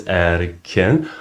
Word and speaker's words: Erkin: I told you my name is Erkin. You had a little hard time pronouncing it. No, You made it. I made it. Now you know it's 2 syllables, Erkin, which means liberty in